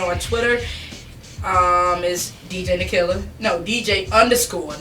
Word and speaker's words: Nakylla: ll a killer okay because people always pronounce my name I ever got a mama don't call it Kyla for them like hey you know to me so yes these in the killer so they can find